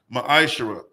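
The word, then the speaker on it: מעשר: Book of Malachi, chapter 3, verses 8 through 10, means tenth in the Hebrew. It's pronounced ma'ashara.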